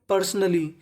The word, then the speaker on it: पर्सनली: तो मीनिंग बन गई पर्सनली पर्सनली पर्सनली का मतलब होता है व्यक्तिगत रूप से देखिए एल दो बार है उच्चारण एक बार करना है हमें लॉर्ड कृष्णा ऑफर्ड